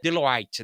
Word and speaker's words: Deloitte: Você tem uma Deloitte, acho que ela é francês, então a pronúncia é Deloite, né? Você tem a Deloite, você tem a Century, você tem a CGI, você tem diversas consultorias que querem você.